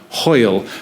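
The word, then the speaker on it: hwyl: one word and it's hoil can you repeat after me ho ho ho it rhymes with loyal it's like a gutural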